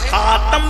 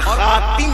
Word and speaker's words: خاتم: میں جو آیا ہے خاتم بھی پڑھا جاتا ہے اور خاتم بھی پڑھا جاتا ہے، دونوں تلفظ ہے۔ خاتم بھی انا خاتم